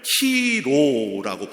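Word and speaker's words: Chi-Rho: 이 모양을 키로라고 발음을 합니다.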